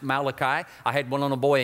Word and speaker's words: Malachi: Book of Malachi and by the way it's pronounced Malachi I had one little boy in Camp several